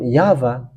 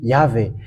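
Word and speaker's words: יהוה: called by Jews because Jews have called him YAHVAH. That's what I have just told you and have taught you. But Roman Catholic has just changed it into Yahweh. That's why it is wrong.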